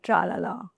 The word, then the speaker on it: Tralala: It's just called Tralala. I think it's easy to pronounce, no?